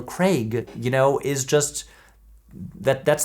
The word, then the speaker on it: Craig: When you've got an American accent, it just doesn't come out naturally. We want to, you know, like blunt Craig. But if you have a British accent, Daniel Craig, you know, is just,